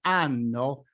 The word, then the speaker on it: anno: In the case of the pronunciation of the word ANNO (YEAR) - with or without H - you have to stress quite well the double consonant N.